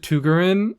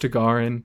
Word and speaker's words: Tagarin: I think I got it mostly right. It's just the accent was on the wrong. Let's just call him Tagarin. I pronounced it Tugarin in the pre-release video, but I believe it's basically the same. It's just Tagarin instead of Tugarin, which frankly does sound better.